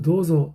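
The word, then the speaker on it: どうぞ: 그래서 도조 할 때 도조라는 발음을 조 발음을 해야 되는데 보통 잘 못 배우면 어떻게 돼요?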